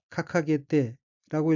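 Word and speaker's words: 掲げて: 둘째 줄 첫 번째 어휘는 한자가 높이들 개자이고 일본어로는 카카게떼라고 읽으며 카카게떼는 내걸다, 달다, 게재하다는 뜻인 카카게루의 태형이고 뒤와 이어서 카카게테아르는 걸려있다는 의미입니다.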